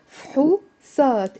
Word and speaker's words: فحوصات: فحوصات. It's two syllables in the Lebanese dialect.